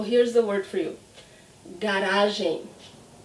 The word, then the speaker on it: garagem: Garagem. See the end of the word? Garagem. The same aim I had in bem.